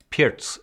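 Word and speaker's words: Pirc: pierce another opening where i never learned how to pronounce it i've used perch pierce pits over the course of my career i think people have been telling me that pierce is in fact the pro now correct pronunciation but what do i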